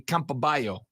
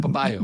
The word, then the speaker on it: Campobello: Because with 2 L's in Spanish, it would be Campobello. But I'm assuming that's not how it gets pronounced. Well, you could do it that way, but Campobello.